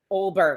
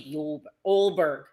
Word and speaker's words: Ulberg: Olberg. I don't know why I say his name like that. I always want to say Yulberg. Carlos Olberg.